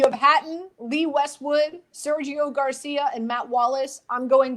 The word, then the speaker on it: Garcia: Sergio Garcia. Stop it. Group What? 9. That's how you're supposed to say his name if you're Spanish.